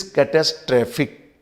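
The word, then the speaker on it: catastrophic: वही चीज यहां पर हुई, दिस इज कैटास्ट्रॉफिक, कैटास्ट्रॉफी। लेकिन जैसे ही एडजेक्टिव बना तो ये होगा कैटेस्ट्रॉफिक।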